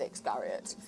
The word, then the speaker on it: Iscariot: certain way to me, but just because you pronounce them differently doesn't make it wrong. It's how you feel. But Iscariot is Iscariot.